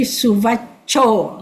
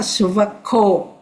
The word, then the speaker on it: suvaco: C is cha, cha. So this is met, cha. Okay, and then the last line you see suvacho, not suvako. That's a very common mistake.